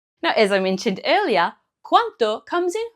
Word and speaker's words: quanto: Now earlier I mentioned that the pronunciation of quando is important because if you don't pronounce that D, you could say this word, quanto.